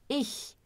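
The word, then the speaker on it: ich: como fazer essa pronúncia vocês colocam a língua atrás dos dentes inferiores a Ixi isso não tem como dar errado não tem x tá então é ixi Tá então cuidado para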